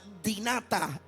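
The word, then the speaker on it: δυνατά: ¿Sabes que la palabra poderosa en griega se pronuncia dinata?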